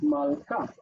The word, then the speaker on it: malka: Same with malka. Structure: first syllable is closed, mal. Second syllable is open, ka.